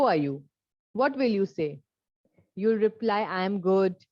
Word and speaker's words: ça: It is not kava, it is sa.